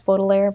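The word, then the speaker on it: Baudelaire: and by the way my pronunciation is probably going to vary between bodair and Bott a I know it's bodair but you know my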